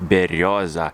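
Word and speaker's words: берёза: tree that is a bird tree which is pronounced in russian like berioza a traditional russian tree uh which is uh the country is situated with a lot of russian people like love exactly this tree berriosa we actually have even a special juice bird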